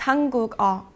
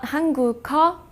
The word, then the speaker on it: 한국어: that has a 받침, the 받침 기억 would replace the 이응. Now 2 things happen. First, the last syllable now starts with a consonant sound instead of a vowel sound, from a to go. The sound that this 기억 makes changes from a K to a G sound because it's moving from